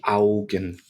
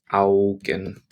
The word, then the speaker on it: Augen: AU, when it comes together, makes an ow sound. Ow. Ow. Like you've just dropped a can of baked beans on your toe. British reference. Ow. Die Augen. Die Augen.